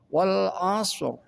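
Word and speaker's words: وَالْعَصْرِ: Ra mati lebih dibaca sedikit tebal. Contoh wal asr.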